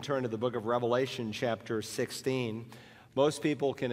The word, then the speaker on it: Revelation: It's not the book of Revelations. There's no S on it. It's the book of Revelation because it's a single revelation that God gave through his son to